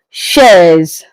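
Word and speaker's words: chaise: But in French it is pronounced as shares.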